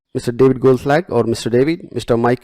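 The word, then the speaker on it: Goldschlag: David Goldslag, I cannot pronounce that word, it's Goldslag, I guess. Mr. David Goldslag or Mr.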